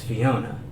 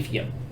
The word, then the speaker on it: Fiona: You also said my name wrong. It's Fiona. Like I said my dear. Fiona. Lady Fiona.